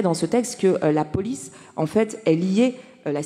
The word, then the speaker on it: Polis: c'est une plateforme comme Polis, donc ça s'écrit police comme vous voyez en haut, P-O-L-I-S, donc c'est le même mot que la cité grecque, hein, dont a beaucoup